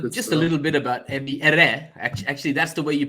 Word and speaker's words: Ebi Ere: No, well, just a little bit about Ebby Ere. Actually, that's the way you pronounce it.